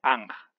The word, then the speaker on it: Anj: lectura del mismo sería en lengua española como anja el motivo por el que hemos escrito anc